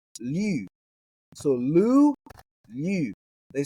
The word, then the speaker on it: λυ: Now, this isn't pronounced the same way as the Greek root we did in the previous episode for Greek vocabulary, which was lu, lambda omicron upsilon, where it's got that omicron upsilon vowel pair, right?